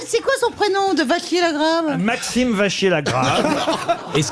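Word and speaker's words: Vachier-Lagrave: on comprend pas maximeier peut-être je devrais dire Vaquier mais en même temps ça s'écrit va C non c'est Vachier La Grave excuse c'est un nom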